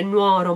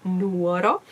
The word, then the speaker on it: Nuoro: Non sono esattamente di Nuoro, i miei nonni, mi raccomando, non si dice Nuoro ma Nuoro, perché tutti sbagliano in Italia, non sono esattamente della